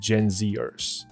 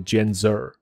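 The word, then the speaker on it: Gen Zer: 所以我从这里先看一下哈。So people in their twenties are often categorized as Gen Zers。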